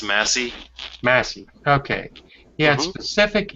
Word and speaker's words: Massey: Don Blankenship knows exactly what he wanted during the years he ran Mesa Energy, once the 6th largest coal company in the United States. Excuse me? It's called pronounced Massey.